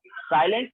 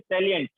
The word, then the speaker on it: salient: साइलेंट नहीं, this is सैलिएंट, important.